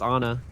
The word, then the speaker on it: Ana: It's pronounced Ana. You'll get a lot of flack if you pronounce it Ana, apparently.